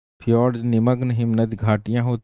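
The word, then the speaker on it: fjord: वहाँ फियोर्ड है। एक है फियोर्ड (समुद्री खाड़ी)। इसे FI और FJ दोनों तरह से लिखा जाता है। लेकिन इसका उच्चारण फ्योर्ड की तरह किया जाता है।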